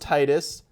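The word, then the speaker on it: Tidus: Number 5, Final Fantasy X 10-2 HD Remaster, it's pronounced Titus, so deal with it edition.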